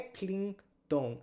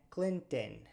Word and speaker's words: Clinton: m é m m Então não é Clinton é Clinton C aqui a gente tem dois n Então os dois vou fazer Clean Clinton Clinton Clinton então é o Bill